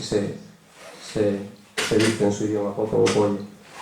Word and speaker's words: Popovo Polje: traduce, o así se dice en su idioma, Popovo Polje, y se escribe Popovo Polje.